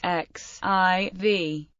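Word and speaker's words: XIV: name of 14 and is pronounced as the separate letters x i v The Piano Sonata no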